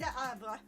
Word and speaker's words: Le Havre: Le Havre.